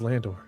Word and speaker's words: Landor: is Landor? Not Lando. Landor.